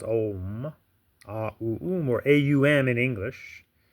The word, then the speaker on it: Om: And this one Sanskrit word, it is a word, A-U-Um, but when you put it together, it is pronounced Om, A-U-Um, or A-U-M in English.